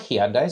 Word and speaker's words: Hyundai: So, um, and now every time we put out a Hyundai video, people like, "It's Hyundai." People like, "Why are you pronouncing it like that? It's Hyundai, like Sunday."